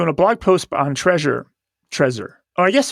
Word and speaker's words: Trezor: treasure treasure oh yes it's probably it's probably pronounced treasure it's tear easy pronounce treasure treasure i think it's treasure okay yeah i think it's a play on words right the hit tip cool kid's way to spell treasure it says it was